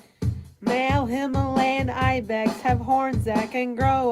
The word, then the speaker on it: Himalayan: You've never heard you've never dude the word is Himalayan like the mountain range. I've never heard it pronounced the way that you're saying it. Well, then you clearly haven't listened to Gian Khazar talk about Bigfoot for about 3 hours on the Benol of America podcast because he is the proprietor of the Homalius. I've also heard other researchers claim it's Homalian, but I don't have a